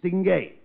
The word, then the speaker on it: distingué: In French, certainly. That French, you see, the French change the last two syllables. In English, it's distinguished. In French, it's stingé.